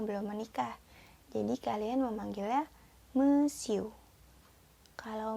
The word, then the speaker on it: monsieur: tulisan Made moiselle ya yang pertama yang dibacanya mesiu mesiu yang kedua dibaca madam Hai nadam dan yang terakhir dibaca Mad muzzle Apa bedanya I miss